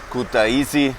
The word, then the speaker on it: Kutaisi: And I hope that also Kutaisi, now I pronounce it correctly, will be on the streets